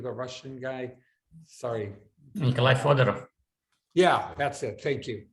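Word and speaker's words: Fyodorov: This is, in a sense, it's very similar to, I might mispronounce his name, the patron saint of the Church of Immortal Life, Fyodorsky, the Russian guy. Sorry. Nikolai Fodorov.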